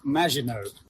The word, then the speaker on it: Maginot: And always remember, it's pronounced Maginot.